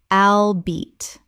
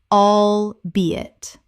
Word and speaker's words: albeit: Word 251 albeit Common mispronunciation albeat Correct pronunciation albeit Three syllables with the stress on the second.